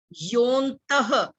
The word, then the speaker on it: योऽन्तः: अच्छा, अगला श्लोक है हमारा योऽन्तः। अब वर्ड है यो अंतः, लेकिन हमने ओ के बाद आधे न की आवाज बोलनी है, एस को साइलेंट रखना है।